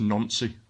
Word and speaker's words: Nancy: It's actually pronounced Nancy, but there you go.